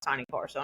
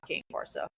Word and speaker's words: Cane Corso: The Cane Corso is an Italian Mastiff, and it's pronounced Cane Corso, not King Corso.